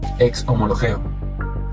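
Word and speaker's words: ἐξομολογέω: Pero acá la palabra que se usa para confesar se pronuncia ex homologeo y significa reconocer abiertamente o admitir algo.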